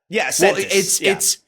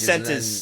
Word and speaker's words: cents: It's cents for smaller, like small changes. Cent is that's the smaller one. It's not centis. It's cent is the smaller one. It sounded weird. Sorry. Yeah, it's spelled SENTS. It's literally spelled cents.